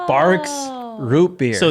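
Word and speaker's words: Barq's: Well, what I thought my whole life was Barg's root beer. Oh. I'm pretty sure it's Barb's root beer.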